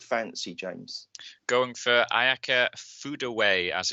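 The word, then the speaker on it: Furue: listened to the commentary and it yes yeah food away so uh so so if you're trying to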